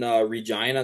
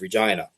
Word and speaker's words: Regina: So the one in October is in Regina, Saskatchewan, and that's about Who's 3 hours Gina? for me. Okay, never Regina. mind. No, I know it rhymes with fun or rhymes with divorce.